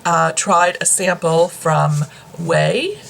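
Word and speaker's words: OUAI: tried a sample from wei i think that's how how you say it it's o-u-i-a way it's a brand that's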